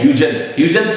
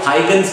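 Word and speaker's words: Huygens: जिसे हम कहते हैं ह्यूजेंस कह लीजिए या हाइगेंस कह लीजिए, अलग अलग लोग अपने अपने तरीकों से प्रोनाउंस करते हैं।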